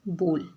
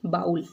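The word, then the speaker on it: bowl: कटोरी को हम क्या कहते हैं, बोल। ठीक है, इसको लोग गलत प्रोनाउंस करते हैं, इसको लोग पढ़ते हैं बाउल, लेकिन ये बाउल नहीं होता, ये बोल होता है।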